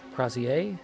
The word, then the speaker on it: Crosier: Crazier. Yeah, Crazier is I think how that's pronounced.